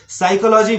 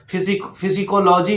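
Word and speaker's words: psychology: तो English pronunciation के अनुसार पी के बाद एस या एन जब भी लगा हो तो उस समय हमें क्या करना चाहिए, उस समय हमें पी का उच्चारण नहीं करना चाहिए, यानी पी लेटर को साइलेंट रखना चाहिए।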